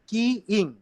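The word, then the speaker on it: keying: কিং, আমি বারবার উচ্চারণটা ভুল জি বলতেছি। স্যার। কি ইং, বুঝতে পারছো? কি মানে চাবি না, চাবি ইং আর কি।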